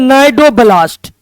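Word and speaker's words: cnidoblast: अंग्रेजी में कहते हैं नाइडोब्लास्ट सी साइलेंट रहता है।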